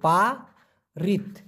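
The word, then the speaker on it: parit: হলো পারিট পারিট পি এ আর আই টি উচ্চারণটা হবে পা রিত ক্লিয়ার দেখা যায় আচ্ছা পারিত এই পারিত মানে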